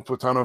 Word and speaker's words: plátano: Oh no, I guess it's the next to last syllable, right? It's supposed to be the plátano. Maybe that is right, unless there's because it's the next to last syllable is usually the one that's going to be the accented one or the highlighted one.